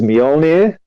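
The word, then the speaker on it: Mjölnir: Thor's hammer, which I really don't know how to pronounce, but this is something I did look up just so I got it right, is Mjolnir.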